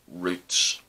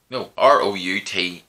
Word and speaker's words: routes: Now, there are well-worn routes. R-O-U-T-E-S. Routes, or as the Americans say, routes.